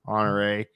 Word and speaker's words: Honorée: And she corrected me on her pronunciation, SD Houston, which you'd think I would know, Honorée.